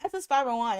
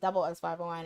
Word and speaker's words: SS501: I I I call them SS501, and then I heard it's pronounced double S501, and then I'm like, I'm your man 그대여, 달라다 오늘도.